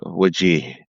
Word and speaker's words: Wajeeh: So, my name is pronounced Wajih in Arabic. And American, I don't mind people calling me Wajih or Waj or uh Wajih. Um up to you. It all works fine.